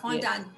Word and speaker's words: fondant: Louis, and she made this, is it a fondant, is that how you pronounce it? Yes, A yes. fondant doll for us to have at the event.